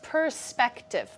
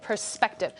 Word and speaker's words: perspective: say it let's look the word perspective has three syllables and the middle syllable is emphasized so it's pronounced perspective perspective get your Guitar Hero